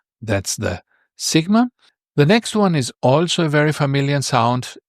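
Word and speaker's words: σίγμα: So it's not a sigma. If you want to say it in Greek, it's called sigma.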